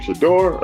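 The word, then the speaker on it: Shedeur: Some predicting his son, how you pronounce his name? Shador? Am I pronouncing it right? Yeah, Shador.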